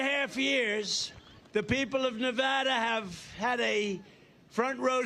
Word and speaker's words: Nevada: we love it and you always have to say it correctly Nevada you got to call it Nevada with thousands proud hardworking